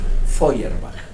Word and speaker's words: Feuerbach: discutir sus ideas y ese personaje fue ludwig feuerbach así se pronuncia ese complicado apellido Cuál es la idea